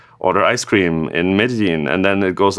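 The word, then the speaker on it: Medellín: best ice cream PWA ever in, let's say, Medellin, is that how you pronounce that? Perfect. Yes. So if you build the best PWA to order ice cream online in Medellin, then I don't know about that, especially if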